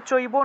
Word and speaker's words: চৈব: এটা হলো হসন্ত তারপরে দেখুন আপনারা পড়ার ক্ষেত্রে চৈব নৈব এরকম বিভিন্ন অক্ষর পাবেন ঠিক আছে চৈব